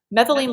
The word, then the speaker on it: methylene: How do you pronounce that? Methylene blue.